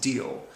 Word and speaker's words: Diehl: talked about, is a guy named August Diehl. I believe that's how you pronounce his name, D-I-E-H-L.